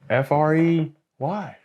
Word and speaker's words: Frey: how do you pronounce that word fry Frey spell it for me f r e y f r e y how do you pronounce